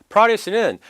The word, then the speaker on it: produce: produce는 produce라고 해서 뒤에 액센트를 끌고 가면은 생산하다, 앞에 액센트를 끌고 가서 produce라고 하면은 농산물이 됩니다.